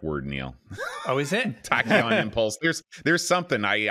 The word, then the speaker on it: Tachyon: pronouncing this right john is it tachyon dreams that's exactly right h y o n tacky on dreams do we know what tachyon means that's a star trek word neil oh is it tachyon impulse there's there's something